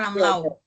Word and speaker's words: Ramelau: di atas permukaan laut ini dulu ada Gunung Tatamailau dan yang dikenal juga sebagai Gunung Ramlau membacanya Ramlau Tamau dulu namanya Tatama